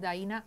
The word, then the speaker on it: Daina: mí Mi nombre es daina chaviano se escribe d de Diana a i n a acento en la i chaviano c h a